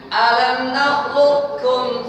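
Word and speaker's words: ألم نخلقكم: Qaf tetap qaf, kemudian keluarnya kum, ringan. Alam nakhluqukum 1 2 3.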